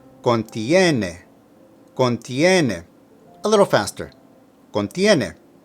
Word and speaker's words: contiene: Contiene is from the verb contener and means to contain. Here it's in the third person singular because it agrees with testamento. Now, be careful with the pronunciation. Contiene, contiene.